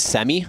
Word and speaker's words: Sami: did get the uh pronunciation of sami's name it is Sammy Samy so we just